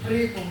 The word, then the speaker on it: Primum: di sini untuk ya bukan premium ya nanti. Iya. Primum ya prum bacanya prum lanjut enggak kamu jangan